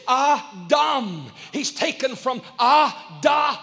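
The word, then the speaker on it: דם: for blood is dumb it's spelled d-a-m and the hebrew calls it dom the hebrew word for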